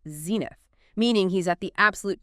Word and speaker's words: zenith: last one is zenena Z E N I T H Zen. Two syllables stress on the first zenith.